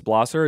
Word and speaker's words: Blosser: saying your last name correctly isn't that it's blosser is that correct that is correct you said